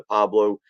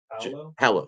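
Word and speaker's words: Paolo: You're still going to get the Pablo. Is it Pablo? What's Banchero's first name? It just Hallo. Thank you. I knew I wasn't saying it right.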